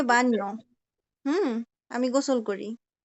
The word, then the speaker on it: baño: bañáis ellos se bañan আচ্ছা, আমাদের উচ্চারণটা কি হইতেছে একটু খেয়াল করেন তো। বাইনো, বাইনো, বাইনো, বাইনাস এরকম হইতেছে না? কিন্তু আসলে জি উচ্চারণটা কি baño হবে? বাইনো হবে bainas না। উচ্চারণটা হবে বান ইয়ো, বানিও, বানিও। হুম, বাইনো না, বানিও, বানিয়াস।